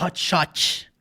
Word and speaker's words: hot shot: o Harvey disse ok mais uma vez temos um t Sutil cortado da pronúncia porque ele não pronuncia hot shot não tem t no final preste atenção e realmente